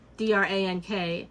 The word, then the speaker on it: drank: DRANK is how you're supposed to actually pronounce red it. Drank. Red drink.